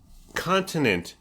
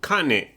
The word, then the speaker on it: continent: beefs conversation beefs is people who don't pronounce the T in certain certain words certain like certain okay so important no it's important continent there's seven of them honey continent okay okay Payton Fisher